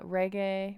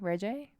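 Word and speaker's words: Regé-Jean: it's very upsetting uh reggae reje i thought it was reggae okay right right that's how i've heard it pronounced john paul or something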